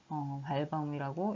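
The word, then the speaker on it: Walbaum: 발바움이라고 읽히는 것이 W가 발바움이라고 읽히는 것이 독일에서 만들어진 서체예요.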